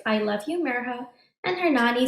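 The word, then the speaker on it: Mirha: is our main character merha you say her name like this mirror as in Miracle ha as in ha ha that's meriha's first day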